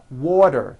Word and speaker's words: water: Water is pronounced as water. The T turns into a D and the whole word is voiced.